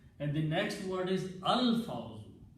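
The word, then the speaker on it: الفوز: the next word is al-fawzu, even though we are not pronouncing al when combined, but actual word is al-fawzu.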